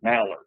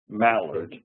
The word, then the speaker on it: Mallard: So and it's pronounced Mallard. Mallard, and it's a surname, a family name.